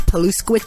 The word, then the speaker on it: Paluszkiewicz: I'm your host, Paluszkiewicz, and for those of you taking notes, Paluszkiewicz is spelled the exact way it sounds, Paluszkiewicz.